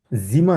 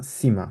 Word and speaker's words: Zimmer: সীমা, জিমা না সীমা, কারণ এস কে সেট, সেট কে Zimmer. সীমা।